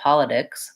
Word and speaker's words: politics: would say is that because it's far away from the stressed syllable and it starts that syllable politics you can hear it sounds strange if I say politics politics I'm definitely using an aspirated true tea there so I'm